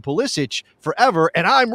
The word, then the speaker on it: Pulisic: Soccer, through the illustrious Michael Cameraman, provided an audio clip of Christian Pulisic saying Christian Pulisic, not Pulisic.